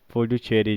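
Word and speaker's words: Puducherry: आपका ये आ जाता है पांडिचेरी, पुडुचेरी जिसको बोलते हैं, पुडुचेरी असली प्रोनाउंसिएशन, जिसको पांडिचेरी इसकी कैपिटल हो जाती है।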